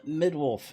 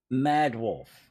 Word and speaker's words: Mad Wolf: how are you uh Mid Wolf is that the proper way of pronouncing your name I'm actually doing fairly good considering mad wolf okay I was at least close mhm now they closer than Midwife which is what I was calling you if you're a mad